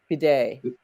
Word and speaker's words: bidet: own what what as opposed to a bidet bidet okay and you got the pronunciation right and you know what the big